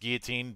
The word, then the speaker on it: guillotine: for the first time via Simon's publishing imprint, Guillotine Press. I know it's pronounced guillotine, but I don't care.